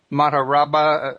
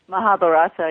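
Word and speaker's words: Mahabharata: the rig vas were created or the uh mararaba if I'm pronouncing it correctly mahabarata yeah mahabarata okay yeah I wasn't far off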